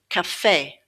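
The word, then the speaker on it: café: cafe cafe With this word, you can see that the E at the end has the A sound.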